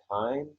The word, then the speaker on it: Kindt: Yeah, there's a cartoonist who does graphic novels, and his name is like Matt Kind. It's spelled like Kindt, and he's active right now.